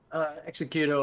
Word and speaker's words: Xecuter: How do you say your name? Xecuter, or just call me.